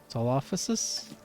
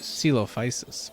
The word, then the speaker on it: Coelophysis: Solophysis? Coelophysis. Coelophysis. Wow, I was off on like every syllable.